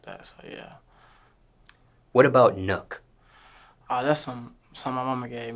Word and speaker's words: Nuk: Nuk. Do people mispronounce this?